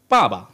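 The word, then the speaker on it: 爸爸: পা, পরেরটা হচ্ছে বা, পা বা। পরেরটা কিন্তু নিউট্রাল টোন, নর্মালি উচ্চারণ করছি পা বা, পা বা, অর্থাৎ ফাদার।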